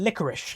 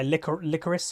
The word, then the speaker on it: Licorice: confirmed to be cloud9 licorice i being told that's how you pronounce the name I would pronounce it I liquor liquor s or something but yeah licorice apparently